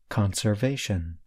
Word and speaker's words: conservation: word listen again conserve in the noun conservation I stress the first part of the word listen again conservation we hope this lesson